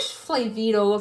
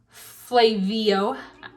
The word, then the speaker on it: Flavio: I wish Flavito appeared, or I don't know, that's not how you pronounce his name. There's no T in his name. Flavio, I think, yeah. I think that's how you pronounce it.